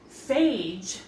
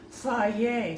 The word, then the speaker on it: Fage: The yogurt I'm using, I would have just called this fagee, but there's a little pronunciation guide here that says fay. So, we're using fay yogurt.